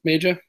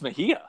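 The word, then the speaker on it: Mejía: we have a consensus many pronounced major yeah I think it's know this I think it's Mejia yes it is a soft J so like y'all like y'all yes yeah like like those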